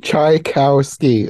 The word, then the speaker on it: Tchaikovsky: of it this way, like chai as in chai tea, cow as in Tri-T, the animal, Cow, chai cow ski, like the sport.